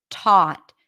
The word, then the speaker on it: taught: before a vowel then the T is aspirated so it feels like there is a little H right after T taught T can you